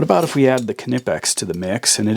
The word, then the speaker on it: Knipex: if we add the canipex to the mix and it is canipax you pronounce the k it seems every time